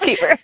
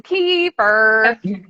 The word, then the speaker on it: kefir: over there and that he referred to it as kafir and that they looked at him all crazy and I was like kefir it's keeper I don't know we say it like we're from Michigan keeper right yeah I don't know it just depends on where you're from like locally charged I